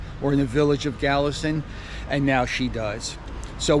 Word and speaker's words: Kalasin: Here is the property office in the city or village of Galison. And by the way, it's spelled with a K, K-A-L-A-S-I-N, but it is pronounced with a G, Galison.